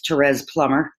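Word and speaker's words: Therese Plummer: write this down because it's not exactly pronounced the way it's spelled but it's Terez Plummer but then there are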